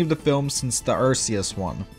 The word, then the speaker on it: Arceus: the films since the Arceus one, or Arceus as they pronounced it there.